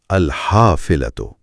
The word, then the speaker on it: الحافلة: مشق کروا دے۔ جی، اس میں ہا کو ذرا حلق سے ادا کرنا ہے، الحافلتو۔ چلے پورا جملہ پڑھتے